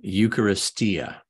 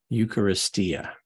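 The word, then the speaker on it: εὐχαριστία: look shall we eucharistia I'm sorry eucharistia was the proper way to pronounce that eucharistia Eucharist is where that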